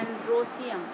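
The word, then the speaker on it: androecium: और इसको स्टैमेन को बोलते हैं एंड्रोसियम, सीधे सीधे बोलते हैं स्पेलिंग उसी तरह से एंड्रोएशियम, ई लगाते हैं इसलिए, लेकिन बोलते हैं एंड्रोसियम।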